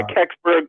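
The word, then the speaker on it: Kecksburg: the astonishing encounters um is it cburg is how you pronounce it untold story uh yeah kbur yeah that's the video I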